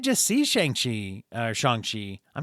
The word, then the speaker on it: Shang-Chi: see shang shi uh shang chi i'm not sure pronunciation yeah always remember that it sounds like sean okay like that was